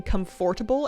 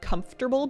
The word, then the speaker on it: comfortable: I also used to be really obnoxious about saying comfortable and not comfortable because I wanted to pronounce the middle sound, even though that's not how that word works.